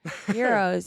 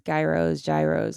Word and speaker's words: gyros: Euros, yeah. In Detroit, we pronounce it that way. In Detroit, it's Euros. I know someplace it's gyros, whatever, but it was GYRO, man.